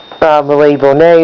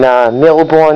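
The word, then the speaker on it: Mille Bornes: Another one in there I have, which is I didn't mention, is Malay Bonnet, or with the bad English pronunciation, Milborn.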